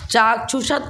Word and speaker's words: चाक्षुष: मिला हुआ है सवा आगे डबल अक्षर होना तो पहले वाले अक्षर को दीर्घ मानते हैं और उसका उच्चारण में दो समय लगाते हैं चाक्षुष ऐसा हा अब देखो